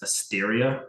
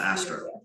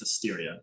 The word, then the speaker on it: Asteria: A lot of And different- also, just to make sure all the notes are accurate, I was wrong. It's Asteria, Asteria, okay. not Astra.